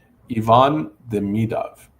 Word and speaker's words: Ivan Demidov: Ivan Demidov is how he says his name.